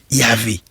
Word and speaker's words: Yahvé: La prononciation Yavé correspond l'expression primitive alors que la forme Jéhovah est la transcription de termes hybride composé de consonne de Yahvé et des voyelles d'Adonaï.